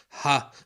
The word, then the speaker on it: ح: Most non-Arabic speakers simply pronounce it ha, like the letter H.